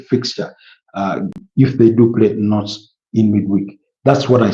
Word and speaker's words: Nantes: In the French League One, Paris Saint-Germain are going to be up against Nantes. I know most Africans, or even Ugandans to be more specifically, they pronounce this as Nantes, but it's Nantes.